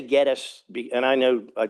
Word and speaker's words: Gettys: And we pronounce it Gettis.